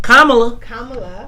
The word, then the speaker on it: Kamala: How you say her name? Kamala. Come on. Like common. Like a Kamala.